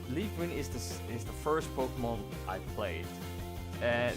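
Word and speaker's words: Pokémon: So today's topic is Pokemon, or how some people like to call it Pokemon, but it's pronounced Pokemon.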